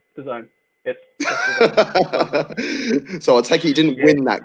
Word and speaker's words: DAZN: boss at the time uh we went to the zone's headquarters and literally the first thing which is